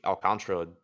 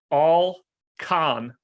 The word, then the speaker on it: Alcantara: Alcantara. 4 syllables. I'm almost positive that's wrong.